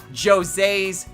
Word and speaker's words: Jose: There is this thing with Jose's car, and yes, it is pronounced Jose, despite what you might think.